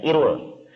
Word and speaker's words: IRUL: lembaganya namanya Irul ya dalam bahasa Indonesia dibacanya Irul Irul singkatan dari Institute